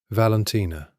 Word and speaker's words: Valentina: "Valentina." He said her name the Italian way, all 4 syllables equal and round. Val-en-ti-na. The way no one else